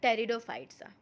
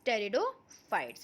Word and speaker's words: pteridophytes: Now we will start the pteridophytes. In this P is silent, so it is pronounced as pteridophytes.